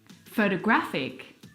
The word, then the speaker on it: photographic: photographer the third example photographic the stress is on the third syllable so you can hear how